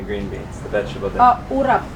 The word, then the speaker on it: urap: And how do you pronounce the other dish with the coconut and the green beans, the vegetable dish? Urap. Urap.